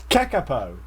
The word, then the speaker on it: kakapo: How do you even pronounce that, Chris? Come on, help me out. Kakapo.